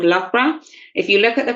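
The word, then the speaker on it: Loughborough: actually look at it and think it says luga baruga because that's how it's spelled but it's lra and it's based in the Midlands uh of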